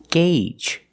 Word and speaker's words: gauge: The first G is a hard g g sound, followed by the long A, gay, and the second G is the j j sound like in juice and jump. Together, gauge.